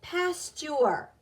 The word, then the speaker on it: pasture: But sure in pasture, the T sounds like a C-H, and the U-R-E, the U-R, sounds more like in nurse.